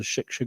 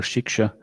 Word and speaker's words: Shiksha: Sometimes I think in Bengali they don't pronounce the S so much, is it? Shika. Same thing. Like Kshatriya or Katriya. Prabhupada pronounced it Katriya, right? The S was silent. So here it's silent, they just haven't included it.